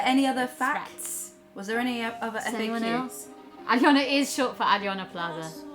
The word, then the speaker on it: Aliona: Aliona's name is Aliona. Do not shorten my name. It's Aliona. 3 syllables.